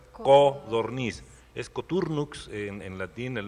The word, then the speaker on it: codorniz: Quisiera saber cómo se dice codorniz o hay una godorniz. Se dice de las dos formas, pero la que se apega más al origen de la palabra es codorniz.